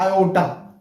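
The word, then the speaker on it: aorta: Actually जो ये अरोटा है ना, इसको हम लोग एक्चुअल जो एक्सपेल करते हैं वो करते हैं आयोटा, यहाँ पे आर साइलेंट कर देते हैं, तो AOTA एओटा हो जाता है। लेकिन यदि आप पूरा स्पेल करोगे इंडियन स्टाइल में, तो हो जाता है अरोटा।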